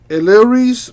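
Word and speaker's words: Elehuris: Eleris Montero. I think the H is silent on that.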